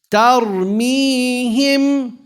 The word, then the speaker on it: ترميهم: ترميهم. ترميهم. Keep saying tar, not tar. Tar. Tar. Ta is light. Ra is heavy.